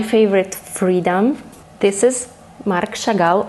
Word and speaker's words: Chagall: freedom this is mark chagall i will pronounce it in a russian way because he was kind of russian and not my favorite